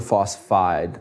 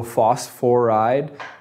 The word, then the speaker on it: phosphide: It's phosphorus, and we usually change the ending just to phosphide. So phosphoride sounds right, but we we like to have a kind of what am I looking for? A two-syllable sort of ending, phosphide, oxide, instead of phosphoride.